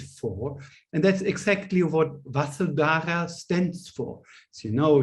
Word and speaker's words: Vasudhara: So actually it is Vasundhara, or Vasudhara, to pronounce her name this way.